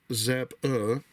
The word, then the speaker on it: Zappa: Frank Zappa, pronounced Zappa, the right here, if you could see it.